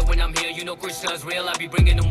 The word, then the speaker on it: KR$NA: Oh, he said his name, Krishna. I was saying it right.